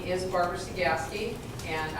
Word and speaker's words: Cegavske: my name is barbara cegaski and i'm here to teach you how to pronounce sagaski so just forget the b and as i tell